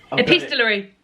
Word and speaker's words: epistolary: Epistolary. Thank you, because I didn't know how to pronounce it.